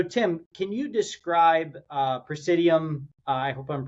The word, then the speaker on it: PraesiDM: So Tim, can you describe uh Prescidium, I hope I'm pronouncing that correctly, and and what you're doing there? Yeah. No. Uh it's Prescidium.